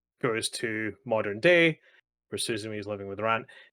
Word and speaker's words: Suzume: Suzuha, Suzumi, Yes, Suzu. Suzume.